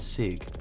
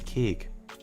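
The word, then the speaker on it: cig: said it wrong earlier so I said before that I thought it was Sig but no it's kig apologies pry pry it's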